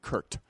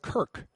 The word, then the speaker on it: Kirk: uh the team's website he kept calling him Kurt not Kirk with a K but Kurt with a t